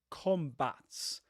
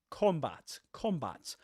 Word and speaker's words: combat: And the last syllable, just like in British English. So we say in American English, combat, with this relaxed R sound, combat.